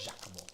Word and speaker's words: Giacomo: Yes, I remember you saying that, and it's actually pronounced like Giacomo. Giacomo. Yeah. Giacomo.